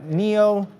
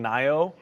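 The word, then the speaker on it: NIO: few months on YouTube we were all saying Nao and then the chat was just hammering us so like you guys can't even pronounce the name of the company like oh yeah okay well it's Neo and then we got it corrected and now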